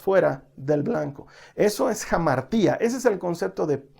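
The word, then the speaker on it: ἁμαρτία: Mira, una palabra griega que aparece mucho en la Biblia es la palabra pecado, que en griego se pronuncia jamartía.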